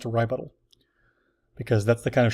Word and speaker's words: RyButtal: A RyButtal is like a rebuttal, except it's spelled and pronounced RyButtal, because that's the kind of shenanigans I get up to on a daily basis.